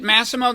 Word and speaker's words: Massimo: close yeah that's pretty cool do you really pronounce it Massimo that's not a very Italian pronunciation is it